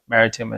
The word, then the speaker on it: Maritim: so mortgage Pro maritim my last name is maritim and it's spelled just like the maritime provinces in Canada but no e at the end so mortgage Pro Maritime